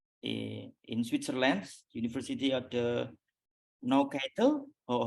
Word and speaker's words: Neuchâtel: Postdoctoral researcher in Switzerland, University of the Neuchâtel, or how to pronounce? And then Neuchâtel.